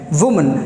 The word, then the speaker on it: women: जो पहला सीखते हैं WOMAN, वुमन, that is perfect. Next जो है WOMEN, इसको बोलना होता है इट्स कॉल्ड विमेन। विमेन।